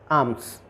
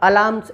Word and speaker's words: alms: Reason जैसे ALMS आर्म्स, है ना। तो अब इसमें एल जो है अलार्म्स, ऐसा क्यों नहीं पढ़ रहे हैं, एल साइलेंट क्यों हो गया।